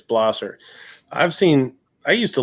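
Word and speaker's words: Blaser: gonna say was it a blazer no it's bla sir is that how it's pronounced bla sir yes that's what the rapid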